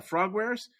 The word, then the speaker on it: Frogwares: Yeah, Frogwares, has apparently had this dispute with the publisher called Nakon, which is a Ukrainian studio.